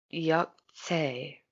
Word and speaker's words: Yog'tze: called the yucks a case and I'm gonna spell it out it's y ou G apostrophe TC e yuk yuk say alright so what is that supposed to mean